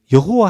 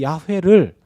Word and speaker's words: 야훼: 게 어떤 차이가 있느냐 히브리어 성경에는 야외 라고 되어있습니다 야외 예 야외 요리 성경이 야훼 라고 되어 있습니다 그런데 이 야외를 한국식 발음으로 옮길 때 여호와 로 옮겼습니다 여호와 루 그러니까 야훼 와 여호와 는 같은 말입니다 근데 히브리어 발음은 야외 입니다 야외 아 어